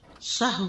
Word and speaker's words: سہو: سہو ہوتا ہے، سہو نہیں ہوتا. سب لوگ اپنا تلفظ بھی درست کر لیں. سہو جیسے لغو، ٹھیک ہے، کرب، نفس، سہو. سجدہ سہو کے اسباب، اس کے 3 اسباب ہیں.